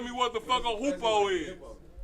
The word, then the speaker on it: hoopoe: Hey, somebody Google that shit and tell me what the fuck a hoopoe is. It ain't say hippo, it say hoopoe.